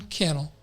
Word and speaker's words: Cannell: no one better than Sean Cannell rhymes with Channel and his team at